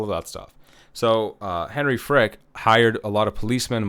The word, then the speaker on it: Frick: And so Frick, and, I'm trying not to mispronounce it. It's F-R-I-C-K, so Frick.